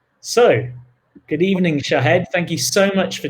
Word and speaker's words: Shahd: It was as simple as Shahd. So, good evening, Shahd.